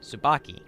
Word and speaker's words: Tsubaki: If it's a T and an S, the T is silent. Like, it's a very light T if you can do it, but 9 times out of 10, you're just going to hear the T silent.